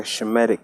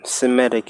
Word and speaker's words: Semitic: So it should say Shemitic comments, because Semitic is a wrong pronunciation.